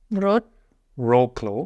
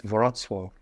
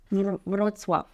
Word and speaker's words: Wrocław: Just on that note, by the way, in the previous video, he pronounced Wrocław. He said Wrocław. And it's Wrocław. Wrocław.